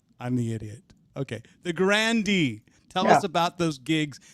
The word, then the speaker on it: Grande: not pronouncing it right i think the e is silent i'm i'm i'm corrected i'm the idiot okay the grande tell us about those